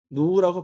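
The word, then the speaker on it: ν: 자 그러면 어 얘를 한 영어로 뭐라고 얘를 이거 V 아닙니다. 이거 얘를 뭐라 그냐면 한국말로 누라고 해요. 누 누 할 때 누 얘를 누라고 부를 거예요. 누 이거의 기호가 라틴어로 누릅니다. 발음이 누예요.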